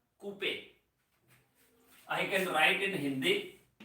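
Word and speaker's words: Couper: called CPE structures not Cooper R is silent that is called Coupe I can write in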